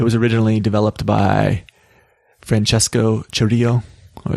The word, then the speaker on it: Cirillo: It was originally developed by Francesco Cirillo, or Cirillo. I always want to say it the Spanish pronunciation, which to me looks like Cirillo or Cirillo, but I guess in Italian, he's Italian, and I think it's Cirillo.